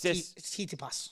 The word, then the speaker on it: Tsitsipas: I didn't realize that Tispidis, is that how you say it? Stefanos Tsitsipas.